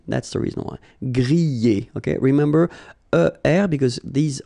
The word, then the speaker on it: griller: You pronounce them A, okay, even if you've got this R, okay, this combination of two letters, ER, at the end, will give you the sound E, all right?